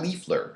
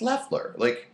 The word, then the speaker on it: Leffler: People pronounce my name wrong. Leafler. I used to get that all the time. Leafler. Leafler? Are you illiterate? It's Leffler.